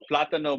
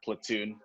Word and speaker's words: plátano: So Lorena, this is plátano madero, not platoon. Like that's no, just English.